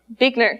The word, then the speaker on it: Buechner: She liked to use a quote by theologian Frederick, I'm not exactly sure how to pronounce this, and I forgot to ask, Buechner, thank you.